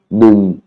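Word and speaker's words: หนึ่ง: Tam thai nung krap, nung, hein, attention, nung, intonation basse, nung, hein, et ça la E. Hein, vous voyez bien, c'est codé par un U.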